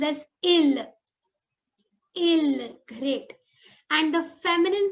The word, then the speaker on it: il: He is pronounced as il.